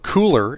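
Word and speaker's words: Kuler: swatches are uh what cooler is uh cooler spelled with a k k-u-l-e-r uh and then we're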